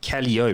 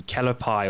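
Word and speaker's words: Calliope: one the muse story i pronounced it kelly-o but it's it's pronounced differently kalapai or something like that and i was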